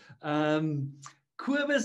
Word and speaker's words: Cobus: Cobus is how you would pronounce it.